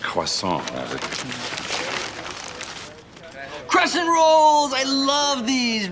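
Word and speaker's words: croissant: It's pronounced quason.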